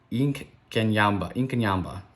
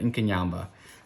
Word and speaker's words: Inkanyamba: boards both come out inc kenyan i mispronounced that a little bit inkanyamba okay cool that's awesome